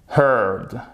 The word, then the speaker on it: heard: e ici et rien à voir avec la prononciation du e à r ici donc ça nous donne chers amis heard heard qui est écouté au passé ou au participe